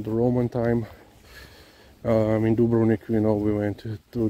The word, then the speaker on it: Dubrovnik: life in the dubrown dubrovnik yeah in america you pronounced dubronic a little bit differently you know dubrovnik pretty